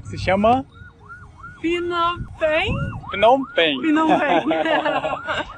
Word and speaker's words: Phnom Penh: Phnom Penh. Phnom Penh. É um pouco complicado mesmo pronunciar o nome dele, já perguntei várias vezes